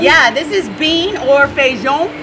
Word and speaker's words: feijão: Yeah, this is bean or feijão. Feijão. Feijão is how you say it in Portuguese.